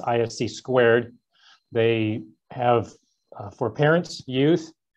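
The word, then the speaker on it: (ISC)²: professional organization i'm a member of which is pronounced ifc squared they have for parents youth and seniors these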